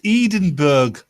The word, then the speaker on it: Edinburgh: Oh, you're pronouncing it wrong. It's Edinburgh.